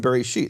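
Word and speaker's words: בראשית: For example, the aleph in Bereshit has no vowel.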